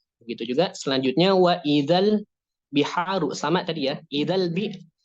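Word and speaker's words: الْبِحَارُ: Nah, kemudian huruf ha yang berharokat fathah bertemu dengan alif yang berharokat sukun. Nah, maka dia dibacanya maqtabi'i, panjangnya 2 harokat.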